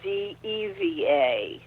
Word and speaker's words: deva: Divas D but it's spelled deeva not D Iva not like you know not like an operatic Diva but a a a a nature Spirit nature spirit are often called I'm not sure if I'm pronouncing it might be Deva but it's deev and they're natural Spirits like